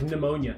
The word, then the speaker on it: pneumonia: Silent letters have always pissed me off. Like pneumonia.